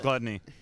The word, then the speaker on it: Glutonny: It's definitely pronounced gluttony. Yeah. But you're actually supposed to say gluttony for his tag, right?